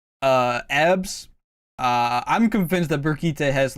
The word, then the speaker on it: Brigitte: Next up we got Brigite. Who? You mean Brigitte? Brigite, bruv. My bad, I mispronounced her name.